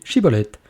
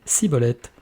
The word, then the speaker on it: schibboleth: disait alors et bien dis chibolette et il disait siibolette ne réussissant pas à prononcer correctement ce mot il le saisissait alors